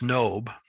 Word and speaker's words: Nob: It's not Nob. We would pronounce it Nob, just like we would pronounce the book of Job, but it's Nob, to the priest Ahimelech.